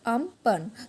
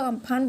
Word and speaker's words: Amphan: ठीक है, तो which is pronounced as अम्पन। तो ये अम्पन हम तो अम्फान बोलते हैं लेकिन ऐसा इसका प्रोनाउंसिएशन होता है अम्पन।